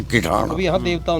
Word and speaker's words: किठाना: गांव है जी, मेरे गांव का शुरुआत का प्रोनाउंसिएशन में बदलता गया, हम बदलता रहा, फिर कठियाना, उसके बाद इब शुद्ध है किठाना।